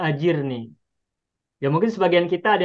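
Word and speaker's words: أجرني: Nah, sehingga ketika kita membacanya sehingga ketika kita memahaminya, "Ya Allah, berilah aku pertolongan dalam musibahku," membacanya bukan Allahumma jurnij, tapi Allahni ajirni yang pajman sampaikan Allahumma ajirni.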